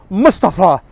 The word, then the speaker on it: Mustafa: is pronounced Mustafa or Mustafa. First of all, it's neither of those, it's Mustafa. Okay, that's how you would pronounce it in any kind of like Muslim-y language.